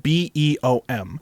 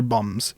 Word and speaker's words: Beom: another dimension they are called the bum it's it's spelled b e o m so initially I think it's pronounced beom apparently when I look it up they're telling me it's pronounced bum so I'm going to call them the bum